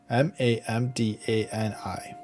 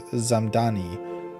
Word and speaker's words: Mamdani: From Fox News, Zohran Mamdani fires back at White House mispronouncing his name, Mamdani. Zohran Mamdani, New York City mayoral candidate, clapped back after the White House mispronounced his name as Zamdani in a viral TikTok set to Hollaback Girl.